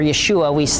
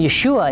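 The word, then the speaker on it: ישוע: name in Hebrew or Yeshua it's a kind of a shortened version of yahushua so they actually have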